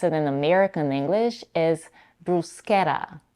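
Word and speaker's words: bruschetta: also a non-standard pronunciation Bretta where the letters SC are pronounced as sh but I personally prefer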